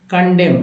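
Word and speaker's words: condemn: कंडेम, इसमें जो है एन को साइलेंट रखा गया है, एम ही उच्चारण होता है, एम तक ही।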